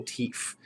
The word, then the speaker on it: tiefling: I go tief. I'm of the I as an E in German, tiefling. And that's what the Germans would pronounce it. It's not tiefling.